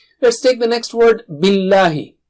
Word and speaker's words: بِاللهِ: Let's take the next word, billahi. Don't make the lam thick here. Don't say billahi. No, just the normal lam.